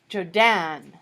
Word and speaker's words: Jodan: I think I'm going to be Jodan again, except I'll make the D capital, so you'll have to, emphasize the second syllable, you know? Jodan.